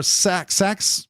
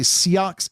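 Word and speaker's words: seax: But this is the Siox or Sax. It's pronounced Sax by some, but I also see Siox is another pronunciation.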